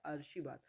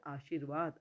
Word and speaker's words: आशीर्वाद: जो लिखा हुआ है वो है आर्शीवाद और सही है आशीर्वाद अब देखिए आप आशीर्वाद शी के बाद र बोल रहे हैं हम उलग वो